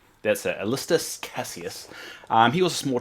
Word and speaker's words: Alanis Sallustis: Alist Casius. That's it. Alist Casius.